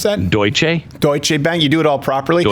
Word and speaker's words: Deutsche Bank: is the free market anymore how did you pronounce that Deutsch a Deutsche Bank you do it all properly chancellor i do